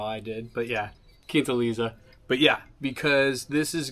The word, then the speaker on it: Quintaliza: Also, the non-gringo way to pronounce the name of this tequila is QUINTALIZA. I think I said something completely wrong, but yeah, it's QUINTALIZA.